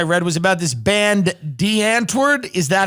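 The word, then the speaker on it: Die Antwoord: the stories I read was about this band, D'Antwoord. Is that how you pronounce it?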